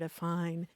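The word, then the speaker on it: affine: that and and it's it's a sort of a confusing sounding word a fine and it's kind of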